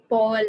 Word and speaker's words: Pal: i'm from india so my name is pronounced as pal but of course it's it's actually it's paul or something very close to that okay okay fantastic paul